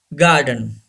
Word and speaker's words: garden: Yes, R is not pronounced. R should be silent. Fierce. Say this word, fierce. Number 7, yes, garden.